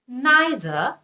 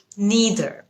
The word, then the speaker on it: neither: নাইদার নাকি নিদার, আসলে দুটোই কারেক্ট। নাইদার এটা হচ্ছে ব্রিটিশ উচ্চারণ, নিদার এটা হচ্ছে আমেরিকান উচ্চারণ।